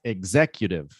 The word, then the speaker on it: executive: Executive. Executive. Right? But that's not the stressed syllable. So I stressed it so that you would pronounce it right, but it's executive.